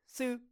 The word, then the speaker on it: 四: 四 And so it's like su, su, su. So for me, I think of suit, suit.